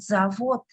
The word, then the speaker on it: завод: Instead of z, I will say ta.